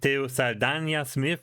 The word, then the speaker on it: Teo Saldana Smith: Um, first of all, to the audience, T Salana Smith, is that right? Is that the right pronunciation of your name?